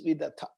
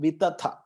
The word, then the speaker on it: vidatha: So something that is to be done with proper knowledge is vidatha, not vitatha.